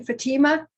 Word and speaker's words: Fatima: Fatima?